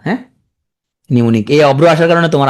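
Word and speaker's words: mnemonic: ওকে, নিমোনিক, তাহলে এখানে প্রথমে উচ্চারণ হয় না, হ্যাঁ নিমোনিক, এই অব্র আসার কারণে তোমার আরো শিখা হয় না। নিমোনিক, হ্যাঁ নিমোনিক, প্রথমে উচ্চারণ হবে না, নিমোনিক।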